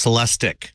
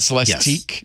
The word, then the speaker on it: Celestiq: It is a Cadillac, and it's pronounced Celestic. Celestic. Not Celestique.